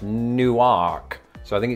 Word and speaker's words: Newark: by extension new jersey i don't think it's gonna be pronounced like it is in those places though and i have heard